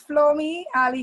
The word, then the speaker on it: Flommi Alie: thank you for having me absolutely am i pronouncing your name correctly yes it's Flo me ally grunt okay well I am really happy that